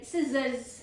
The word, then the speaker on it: scissors: Scissors. Scissors. Meaning is a tool used for cutting. You already know what a scissors is. Okay? Pro tip is SC sounds like S, not SK.